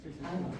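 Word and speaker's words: 春: japonés lo has puesto haru se pronuncia así haru Primavera os Leo dos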